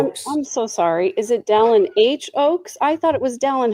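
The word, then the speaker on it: Dallin H. Oaks: I was I was gonna say Don Ho, I'm sorry, Don H. Oaks, not Don Hoax.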